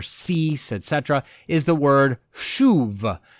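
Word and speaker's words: שוב: etc., is the word shuv. It's spelled S-U-B with a whole bunch of little lines and marks all around those three letters, and it gives you the word shuv, which literally means to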